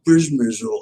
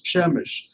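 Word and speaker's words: Przemyśl: I said, no, it isn't Przemysl, it's Przemysl, Przemysl.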